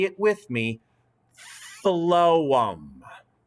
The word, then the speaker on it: phloem: the word p h ph l o e m that p h is pronounced like an f so look at the word and say it with me phloem phloem one more time phloem